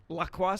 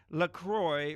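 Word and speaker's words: LaCroix: how is laqua pronounced lacroy rhymes with enjoy I am sorry I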